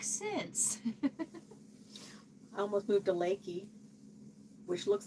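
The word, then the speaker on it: Leakey: I almost moved to Lakey, which looks like Leaky, but it's Lakey.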